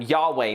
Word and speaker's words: Yahweh: We kind of pronounce that Yahweh now, but they didn't pronounce it back then.